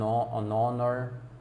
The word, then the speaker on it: honor: anh honest, ah, anh honor, uma honra, então uma pessoa honesta. você consegue colocar o N aplicado, mesmo com todas essas palavras iniciadas com H, porém o H é mudo.